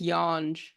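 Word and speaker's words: Yonge: y dandas i I don't know if I'm pronouncing that right but I it's Yan y Yan okay y Dundas uh so I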